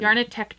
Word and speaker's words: Yarnitecture: You have to Yarnitecture. double pronounce that CT.